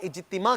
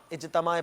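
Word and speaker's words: اجتماع: है दुआ होती है तो हफ्ता वार इजतिमा कहना है इज तमा इजत माए पाक नहीं कहना अगला लफ्ज दिखाइए दूसरा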